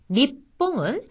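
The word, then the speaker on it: にっぽん: 거죠 학교라는 뜻이고요 다음에 니뽕 작은 쓰 다음에 뽀가 왔으니까 피로 발음되어 일본이란 뜻인데 니뽕 하는 식의 읍처럼 들립니다 그다음은 장음의 대해 설명을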